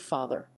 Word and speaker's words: father: that of the word father in late middle english this was generally pronounced fanat r thus rhyming with gather get at r broadening